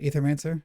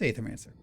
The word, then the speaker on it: Aethermancer: Am I going to say it right? Etherman. Is it Aetherman? No, that's not right. What are you? It is. It's aethermancer.